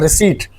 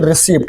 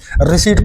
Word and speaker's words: receipt: देखो इसका प्रोनंसिएशन होता है रिसीप्ट ना कि रिसीप्ट। यहां पे पी साइलेंट है। ठीक है? तो याद रखिएगा इसको क्या पढ़ेंगे? रिसीप्ट पढ़ेंगे।